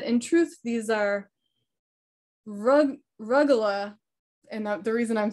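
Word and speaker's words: rugelach: pronouncing their name correctly i go with the short u as in rug but perhaps the u is long as in rue recently i decided to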